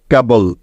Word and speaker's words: cable: এখন দেখো সবার শেষে বাকি আছে BLE, তাই BLE এর পরিবর্তে এখানে নিতে হবে বল, কারণ এটাই হলো নিয়ম। মনে আছে তো সবার যে শব্দের শেষে BLE থাকলে তার উচ্চারণ সবসময় বল হয়ে যায়, তাই না? তাহলে কে এবং বল একসাথে যোগ করলে হয়ে যাবে কেবল। কেবল।